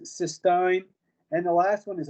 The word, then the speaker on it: cysteine: Should pronounce it cysteine.